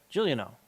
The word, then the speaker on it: Giuliano: It's pronounced like Julian. Okay. Got it. With a no. Giuliano.